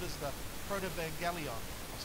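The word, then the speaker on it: Protevangelion: 3, and what this is called is the Protovangelion. I'll say that one more time, Protovangelion. I'll even spell it for you, because I want to serve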